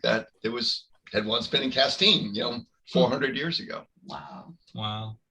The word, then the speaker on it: Castine: Yeah, it looks like you pronounce it Castine. It's named after some French person, but it's Castine.